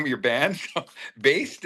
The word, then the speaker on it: Baest: So, based is it? Yeah, I think that's a very good pronunciation.